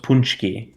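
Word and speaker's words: paczki: spell it you're from they might pronounce it like epoxy probably yeah because it's spelled like p a c z k i but it's like pronounced punchy and it's like um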